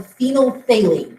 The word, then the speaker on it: phenolphthalein: or not if you have a substance called phenolphthalein that's how you pronounce that weird-looking word and it's a clear